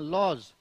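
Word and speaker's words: lodge: इसमें एक आपका हाँ लॉज, एल ओ डी जी ई, तो देखो डी के बाद जी है तो डी साइलेंट हो जाएगा, यहां पे डी यहां पे चला जाएगा, तो एक पैटर्न भी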